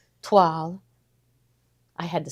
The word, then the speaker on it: toile: Okay, so this one is called toile. Toile. I had to say that word because I know how to pronounce it, and I was like showing off that I know how to pronounce toile.